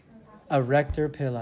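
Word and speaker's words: erector pili: the second word p think of the word erect in a way rhymes with it erector pil who said that one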